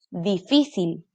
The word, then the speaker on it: difícil: Y esto sería última sílaba, porque es cortita. Pájaro, pájaro. Última, penúltima, antepenúltima. ¿Dónde se carga la voz? Antepenúltima. Difícil, difícil.